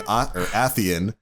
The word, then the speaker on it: Atheon: So when you say it, say Atheon. His real name is actually Ethan.